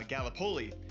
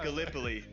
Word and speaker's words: Gallipoli: right because being from Iowa I said uh Galipoli and it's it is pronounced Gallipoli.